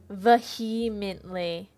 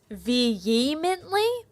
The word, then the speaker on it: vehemently: Vmently it's vemently. It's an H but a subtle H.